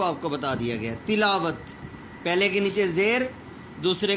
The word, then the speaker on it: تلاوت: یہ تمام کے تمام الفاظ کا تلفظ غلط ہے. جو صحیح ہے وہ آپ کو بتا دیا گیا. تلاوت، پہلے کے نیچے زیر، دوسرے کے اوپر زبر،